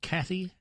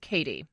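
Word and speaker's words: Kattie: And do you say her first name, Kathy? No, you actually say it Katie.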